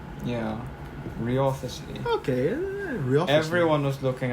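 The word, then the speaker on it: Wriothesley: Oh yeah, Riothesley. Riothesley. It's like saying wrath, like the W is silent. Yeah. Riothesley.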